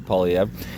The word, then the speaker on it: Poilievre: Polyev. So sort of a weird R, silent R.